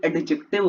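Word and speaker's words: adjective: एडजेक्टिव बोलता है कोई एडजेक्टिव बोलता है ठीक है तो इसकी प्रशन एडजेक्टिव होती है इसके अंदर डी साइलेंट होता है क्या होता है डी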